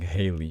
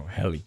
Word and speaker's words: Helly: helly right yes okay i was saying haley all the time so helly okay sorry okay so um